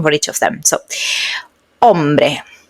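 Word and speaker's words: hombre: So, ombre ombre remember that when we had the h at the beginning there is not sound in Spanish.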